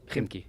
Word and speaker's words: Khimki: Khimki.